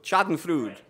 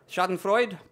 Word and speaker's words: Schadenfreude: I pronounce it that way because I need a mnemonic device to remember it, and so I think of Sigmund Freud with a lampshade stuck in his stomach.